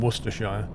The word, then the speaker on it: Worcestershire: problem easy everything and Worcester is not Worr sester a war sester Shire its Worcester and Worcestershire don't pronounce them Auster sure you want to say